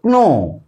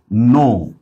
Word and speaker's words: knee: একইভাবে আমরা যখন বলবো KNEE, এটার প্রোনাউন্সিয়েশন হতে হতো ক্নি, কিন্তু আমরা কি বলি, এটা হচ্ছে নি।